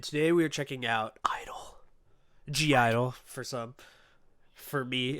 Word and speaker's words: (G)I-DLE: For me, until I realized how to say it correctly after like a year and a half of always saying G-I-DLE. Of everyone in the comments, like, hey, you don't have to say the G.